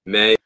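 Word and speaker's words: Maye: say his last name may I don't I don't know yeah it's May but like it's spelled like m a ye yeah okay so Drake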